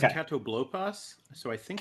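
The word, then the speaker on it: Catoblepas: Katobopas. The what? I might be mispronouncing it. This is a Magic the Gathering card. You're good. I think it's okay. Katoblopas.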